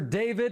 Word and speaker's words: D4vd: Singer and producer David, and it's spelled D4 VD.